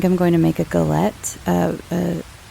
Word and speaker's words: galette: going to make a galette, apple galette. I think that's how you pronounce it. It's French. It's basically an apple pie where it's just free form.